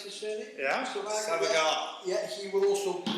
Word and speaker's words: Savagar: Matthew Savagar, is that how you pronounce his surname? Yeah. Savagar.